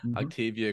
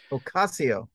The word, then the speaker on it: Ocasio: I disagree with uh a you can probably pronounce her name better than I can Octavia Cortez um Ocasio yes thank you but at least she's honest